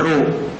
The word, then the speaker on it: rho: रो means RHO pronunciation होता है रो, ये रो का सिंबल है।